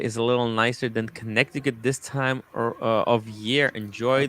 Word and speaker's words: Connecticut: C, by the way, Tim, is silent. Yeah. So it's Connecticut.